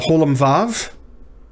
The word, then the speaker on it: holam vav: The holam vav is pronounced like the O in roll, and it's transliterated using the English letter O with an upward pointed caret on top.